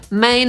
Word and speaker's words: Maine: I pierwsze 2 może nie są jakieś specjalnie trudne – Maine /meɪn/ czytamy tak samo jak „główny”, potem Maryland /ˈmerələnd/ i trzeci to Massachusetts /mæsəˈtʃuːsɪts/.